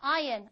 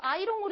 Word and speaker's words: iron: 자, 다림질하다 iron, I-R-O-N. 이거 아이롱으로 읽는 분 안 계시죠? 아이롱 파마라고 하시면 안 돼요. iron입니다. We do not pronounce R. R 발음 안 해요. iron.